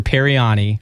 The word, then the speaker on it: Paryani: Paryani. I had to ask you 3 times to make sure I'm saying it correctly. You got it perfect.